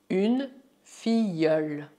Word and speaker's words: filleule: Tal como acontece com as palavras une famille et une fille, você deve imaginar que o duplo LE é Y.